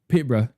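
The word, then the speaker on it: Peterborough: Peterbr. Yeah, it's just BR instead of Bur. Even though it is spelled Burr, it's bruh. Bruh.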